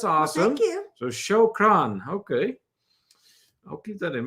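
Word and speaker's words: شكرًا: Then Troy says, spelled phonetically, shukran, thank you, in Arabic. Okay. Well, we're learning something already tonight. That's awesome. Well, thank you. So shukran.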